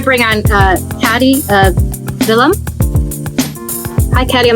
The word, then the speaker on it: Vilim: on uh Patty uh villam hi cadium am I pronouncing your name right if not please give us the correct pronunciation yes it is correct so uh take